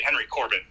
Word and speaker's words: Henry Corbin: interesting okay and his his name is Henry Corban is that c-o-r-b-a-n iron and and it's spelled Henry we would say Henry Corbin and uh the text